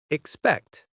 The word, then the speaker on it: expect: The word expect in fast English often drops the first vowel. So at slow speed, you hear expect. But at fast native speed, you hear expect. The stress is on the second part, expect.